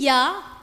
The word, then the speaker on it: il y a: Il y a, what does that mean, il y a? There is, huh? There is or there are. Well, the il y a becomes ya.